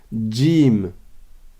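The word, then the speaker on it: جيم: de la bouche mais c'est un peu comme s'il y avait un D devant donc répétez après moi Jim Jim Jim donc on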